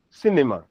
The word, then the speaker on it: cinema: the um left word one for instance cinema. Cinema. So as you can see the stress is on the uh the left word one which is the first one which is the first one.